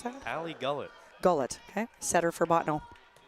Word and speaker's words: Gullett: Is that how I pronounce that? Hallie Gullett.